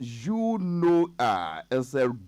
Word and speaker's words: eunoia: EUNOIA, pronounced Unoia, is a rare but beautiful English word.